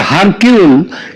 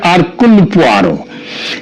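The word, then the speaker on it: Hercule: এবং তার গোয়েন্দা আরকয়ার এটা যদিও উচ্চার উচ্চারণে এটা হয় হারকে কিন্তু একচুয়ালি উচ্চারণটা হচ্ছে আরকুলার তিনি যদি আজ বেঁচে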